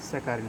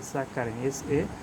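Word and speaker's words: saccharin: স্যাকারিন, স্যাকারিন, SACCHA, স্যাকা, স্যাকা, তারপর RIN, রিন।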